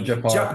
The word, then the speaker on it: Jafar Panahi: Jafar Panahi. Jafar or something is I believe is how you say his name.